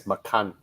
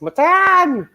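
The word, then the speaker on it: Macan: for for tiger yeah but i believe they pronounce it as makan they they i believe they refuse to pronounce it as matan so yeah so you want to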